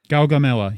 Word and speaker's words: Gaugamela: So, running through sort of what happened in this episode 4, and I got to be honest, I'm not 100% sure how to pronounce it. It's Gagamela? Gaugamela, yes.